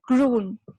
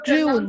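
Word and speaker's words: grün: Okay, so it is pronounced as groon. Pronouncing wrongly. Yeah, groon. U has the umlaut.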